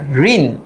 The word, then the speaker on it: ঋণ: আমরা জানি এখানে যে একটা স্বরবর্ণ আছে রি, রি এর উচ্চারিত রূপ কিন্তু রয় রস্যিকার, ঋণ, তাই না?